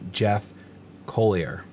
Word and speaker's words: Colyer: beliefs will be signed into law by governor Jeff Colyer that's how you say it that is a